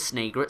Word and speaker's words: Snagret: supposed to pronounce it I think it is snagret since it's a snake and an egret anyway are simply birds